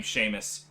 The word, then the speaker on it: Seamus: General Seamus, is everything under control? I fucking hate the name Seamus, because that's how you pronounce it, but there's no H in it, but it makes that sound.